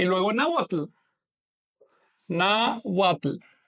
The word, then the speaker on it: náhuatl: Hay una diferencia sutil, pero importante de pronunciación. Así que recuerden, esta W no es vocálica, es consonántica, es una consonante. Mientras que esta forma de escribir, pues es vocálica porque la H no pronuncia.